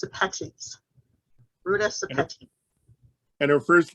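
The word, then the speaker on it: Sepetys: last name it is s-e-p-e-t-y-s it's called it's pronounced apaches and her first name is r-u-t-a thank you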